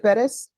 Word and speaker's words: Bettis: My name, my last name, if you pronounce it correct. Oh, how, is it Bettis?